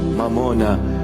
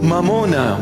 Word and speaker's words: mamona: mamuna in our language mamona Mamon in English they just translated it you know sounding Aramaic almost Aramaic it's not M mamona come I teach you the proper pronunciation mamona money the Lord himself